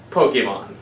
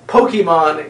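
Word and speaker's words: Pokémon: I'm well aware that my pronunciation of Pokemon is wrong it's Pokemon but you see I don't want to poke anym so therefore I am simply going to say poke Emon now Pokemon is not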